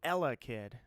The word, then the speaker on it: Elekid: You got the emphasis on the wrong syllable. It's Elekid.